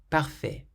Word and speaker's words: parfait: The following words, for instance, all end with letters that are completely silent. Délicieux. Délicieux means delicious. Parfait.